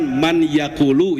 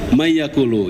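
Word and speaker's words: مَنْ يَأْكُلُ: Misalkan man yaakulu ya, Pak ya. Man yaakulu. Jadi apa dibacanya Pak? May yaakulu. Jadi ketika kita baca may yaqulu tegas gitu Pak ya. May yaquulu amanah gitu ya.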